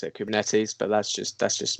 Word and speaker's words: Kubernetes: yeah me too yeah it's a greek word it comes from ancient greek i think um and uh the the greek people that i've spoken to about this pronounce it kubernetes so uh we should